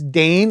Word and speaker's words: Dane: I think I kept calling him Dine during my SPD run. It's Dane, like Great Dane, I believe it's how it's pronounced.